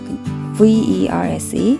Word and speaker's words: verse: 자꾸 버스라고 읽게 돼요. VERSE, verse입니다.